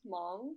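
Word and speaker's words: Hmong: harsha's getting at is my ethnicity is long which is spelled h-m-o-n-g so there's like a silent h in it um basically i have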